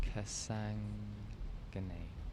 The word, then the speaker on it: Sandhagen: It's pronounced Kasangane.